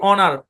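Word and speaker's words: honour: দেখি আমরা খেয়াল করেন এইচ ও এন ও ইউ আর শব্দের উচ্চারণ কি অনার অনার অনার অনার মানে সম্মান আমরা বলি না পাশ এই যে সেই বানান বানান এখানে এইচ টা সাইলেন্ট এখন আবার কেউ জোর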